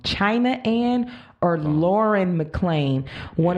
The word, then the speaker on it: China: case and my backup would have been either child excuse me I said her name wrong China and or Lauren McClane one of the two